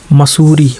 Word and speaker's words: Mussoorie: मसूरी, मसूरी की क्या स्पेलिंग रहेगी, MUSSOORIE।